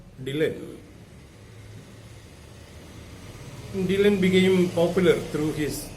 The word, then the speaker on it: Dylan: because the weight was pronounced like dalan and the people might regard him as adult person and dylan wanted his name to be pronounced as dylan dylan became popular through